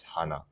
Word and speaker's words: Hana: you can tell like so hana is the way you can pronounce it i it's not hana it's not americanized it's hana all right so just remember that if it was double n then i would say hannah but since it's a